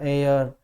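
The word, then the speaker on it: heir: में जितने भी हैं यहाँ तक इनमें एंच साइलेंट रहेगा। एयर, एयरस, आर, ऑनर, इस तरह से हॉनर हम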